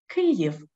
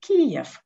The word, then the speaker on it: Kyiv: For example, the ministry urged to use the Ukrainian transliteration Kyiv, and not the Russian Kiev.